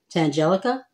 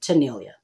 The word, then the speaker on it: Tanealya: You guys, I have been called Tangelica. Tangenia. I've even just been called Tanya, as if the E-A-L is somehow silent in my name. But yeah, it's pronounced Tanealya.